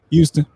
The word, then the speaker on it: Houston: So the H in Houston is not silent, but the H in humble is silent.